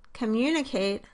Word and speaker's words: communicate: In the word communicate-- communicate, on the other hand, the pitch of the voice goes down slightly in the first syllable and then rises to a peak in the second syllable, mun, and falls off in